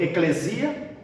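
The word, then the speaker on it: ἐκκλησία: E se pronuncia em grego eclesia.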